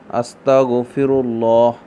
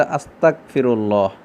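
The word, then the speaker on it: أستغفر الله: বাক্যটি হচ্ছে যে আস্তাগফিরুল্লাহ। অনেকে বলে যে আস্তাগফিরুল্লাহ, গয়নের জায়গাত কাফের উচ্চারণ করে।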